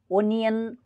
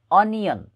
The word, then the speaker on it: onion: त्यसै गरी ONION ONION यसको उच्चारण ओनियन गर्छन् धेरैजसो मान्छेहरूले, तर यो रङ प्रनन्सिएसन हो। यसको करेक्ट प्रनन्सिएसन अनियन के हो अनियन अनियन यसको करेक्ट प्रनन्सिएसन रहेको छ। अब त्यसै गरी THUMB THUMB यसको